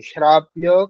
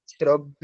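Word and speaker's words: श्राव्य: বলতে হবে সভ্য সভ্য এখানে আছে শ্রাব্য শ্রব্য নয় শ্রাব্য আচ্ছা আচ্ছা এখানে যেগুলি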